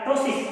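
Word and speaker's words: ptosis: अगर उसमें बात करें तो हम कह सकते हैं कि उसमें सिग्निफिकेंट क्या देखने मिलेगा, टोसिस, क्या बोलते हैं पी साइलेंट है टोसिस।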